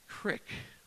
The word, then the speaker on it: creek: Just like I say creek, that's not apparently how you say it down here. It's crick, or I can't even say it wrong.